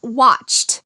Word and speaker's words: watched: To talk about yesterday, we say watched. Watched. It has a t sound at the end.